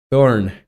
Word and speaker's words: thorn: It's thorn. It makes the th sound as in thing. And my second favorite is the F. It makes a softer th sound as in the.